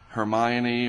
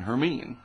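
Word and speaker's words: Hermine: if it is named it's called herine not Hermione or whatever or Herman it's h e r m e e n is the pronunciation herine all right so this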